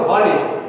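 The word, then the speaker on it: honest: এখানে এইচ এর উচ্চারণ হলে হয়তো অনেস্ট, কিন্তু এখানে এইচ এর উচ্চারণ সাইলেন্ট থাকার কারণ হচ্ছে অনেস্ট, সেজন্য এখানে এ না বসে এন বসাতে হবে, মনে থাকবে।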